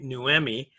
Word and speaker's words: Noemi: I always remember how she pronounced her name, Noemi, You know what and, I mean?